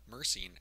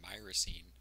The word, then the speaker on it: myrcene: to talk about Marcin mersin actually pronounced my racine is a monoterpene that